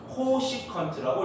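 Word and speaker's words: cosecant: 그래서 줄여가지고 얘를 우리는 CSC 세타라고 쓸 겁니다. 읽을 때는 뭐라고 읽어야 된다? 코시컨트라고 읽습니다.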